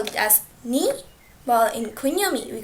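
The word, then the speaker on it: 二: okay so in onyami we call it as ni while in kunyami we call that futa of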